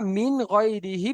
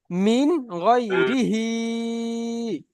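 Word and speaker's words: مِنْ غَيْرِهِ: উচ্চারণ কিন্তু সবকিছু সঠিক পড়েছেন, কিন্তু শেষে যে হার নিচে খাড়া জের আছে, খাড়া জেরের কাজ কিছু মাত্র করেননি। এই পড়াটি হবে মিন গয়রিহি।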